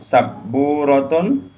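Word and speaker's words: سَبُّورَةٌ: Sabburotun, papan tulis. Nah, ini sabburotun. Jadi perhatikan ada tasdidnya.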